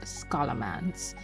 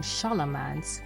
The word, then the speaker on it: Scholamance: The name of this fanfic is actually pronounced Scholamance, but I've been saying Scholamance for this entire thing.